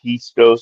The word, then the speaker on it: pisto: a joke cuz the the I is pronounced like E in Spanish. So it's it would be pisto. So like pisto pisto. I thought I thought I was making a joke.